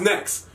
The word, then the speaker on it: NXT: we'll probably just like drop the e out of that it's still pronounced next but you know it's just